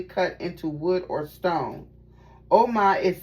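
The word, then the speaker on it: Ogma: Agma, pronounced Oma. Oh, okay, it's Oma.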